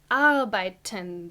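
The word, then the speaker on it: arbeiten: you might work so the verb for working is albertan the emphasis is on the A on the first syllable R by 10 take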